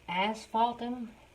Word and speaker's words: asphaltum: try say it correctly this color it is asphaltum I've pronounced that correctly you want to add some